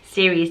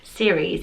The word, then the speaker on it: Ceres: And it's where we get the name cereal from, so that's how you can kind of help you with the pronunciation, because it's a bit of a funny one.